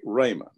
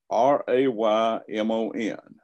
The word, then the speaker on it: Raymon: So my email address is Raymon. I'm going to spell it for you. R-A-Y-M-O-N. Do not put a D on it, okay?